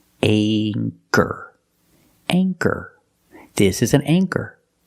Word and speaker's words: anchor: with the long a with anchor the CH makes the k sound so for that reason we pronounce the a with a long a sound anchor anchor this is an